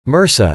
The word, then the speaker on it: MRSA: A good example is methicillin-resistant Staphylococcus aureus, MRSA, pronounced MRSA, an infection commonly acquired in hospitals.